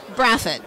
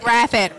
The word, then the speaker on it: Braffet: with Kelly pronounce your last name for me graphic graphic nobody can spell it nobody can say it it's unique and